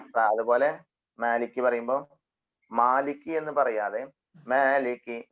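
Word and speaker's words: مالك: അത് സിമ്പിൾ ആയിട്ട് വരും ഈ മാലിക്കിന്റെ ഉച്ചാരണം ഒന്നും കൂടി ക്ലിയർ ആക്കിയിട്ട് പറയണം മാലിക് മാലിക്കി മാലിക്കി എന്നുള്ളത് മീമിന് ചെറിയൊരു ഇമാലത്ത് ഒരു ചെറിയൊരു ചെരിവ് നൽകിയാൽ നൽകാതെയും വായിക്കാം നിർബന്ധം ജായിസാണ് നമ്മുടെ സൗരഭ്യം വായിക്കാം മ എന്ന് വായിക്കണം കറക്റ്റ് നേരെ നിന്നുകൊണ്ട് മലയാളത്തിൽ പറയുന്ന മ എന്ന്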